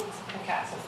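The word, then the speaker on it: Átl’ḵa7tsem: Ruth, how do you pronounce the Howe Sound name in notes? A kitsem? A kitsem.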